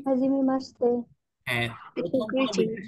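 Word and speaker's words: はじめまして: Hajime মাসতে। মাসতে, এই যে শি আছে, মাসিতে বা মাসতে, এটা আপনারা পরবর্তীতে বুঝতে পারবেন কেন শীতে হয়ে মাসতে হয়ে গেল।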